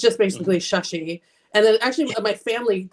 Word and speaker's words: Shashi: kind of Indian names the a is pronounced like a short u so I tell people like when you say tell someone to shush up it's just basically shushy and then actually my